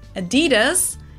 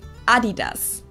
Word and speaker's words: Adidas: first time I did Americans and Canadians probably going pronounce this like Adidas Adidas didn't understand at all what they were referring to because they usually pronounced Adidas and in Germany we say Adidas Adidas Adidas huh okay Adidas super different it's the second largest